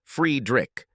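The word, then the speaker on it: Friedrich: like being called that he preferred his name to be pronounced friedrick this only proved what an idiot he was because by pronouncing it that way his name was German and there was not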